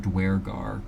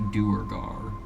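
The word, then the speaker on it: Duergar: across the lake interesting they're pronouncing it dwargar cause according to DND Beyond it's a doogar it's what was this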